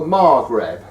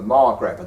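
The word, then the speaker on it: Maghreb: a group of countries which are called the margreb and that spelled m a g h r e b the Margaret the Margaret countries are Morocco Algeria Libya and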